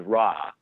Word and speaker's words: Ra: movie is that so the god Ra is a very anglicized pronunciation of what they originally would have called the god. In Coptic, I believe it's pronounced Rea, so R-E-E-U-H, if you